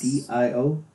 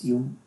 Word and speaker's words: Dio: D-I-O? Yes. Dio. Dio or Dio. People argue over the pronunciation of that. I think it's Dio, but I like Personal Jesus by Marilyn Manson and their cover Sweet Dreams.